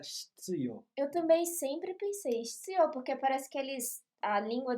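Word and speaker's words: 必要: Eu também sempre pensei Hitsuyo, porque parece que a língua deles trava na hora de falar o Hitsuyo. Né? Mas a tradução correta, ou melhor, a pronúncia correta é hitsuyo, não é shitsuyo.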